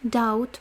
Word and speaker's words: doubt: Doubt is written d O B t. b is not pronounced doubt and ou in a closed syllable will be auу, but vice versa will be o.